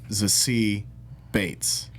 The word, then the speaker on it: Zazie Beetz: I just recently learned her name is pronounced Zazie Bates.